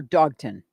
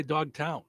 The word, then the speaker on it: Dogtown: Or now, is it Dogtown, Town, or Dogton? It's actually 2 words. So I'm going to say Dogtown.